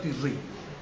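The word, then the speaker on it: תשרי: Tisrei. Tisri. Bueno, sí, Tisri, claro. La pronuncia Tisri, ¿no?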